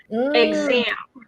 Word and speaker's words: exam: Exam. Okay. We would say it like this, exam. Let's say exam. That's good. Just no nasalization.